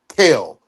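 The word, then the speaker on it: Gel: G G E L, but the jail is pronounced Kale.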